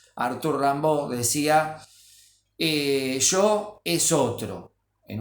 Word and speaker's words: Rimbaud: varios el poeta francés rambó se escribe Rimbaud Arthur Rambo decía yo es otro